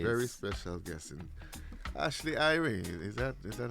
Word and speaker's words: Irae: Very special guest in Ashley Irene. Is that is that how you pronounce it? I Yeah, I love that. So my middle name is Ray, so that's why you spell it that way.